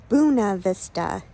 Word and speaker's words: Buena Vista: into uh Uno Vista Buena Vista I can't I'm not sure how you say it locally um correct pronunciation is Buna Vista even though it's spelled Buena Vista um right now my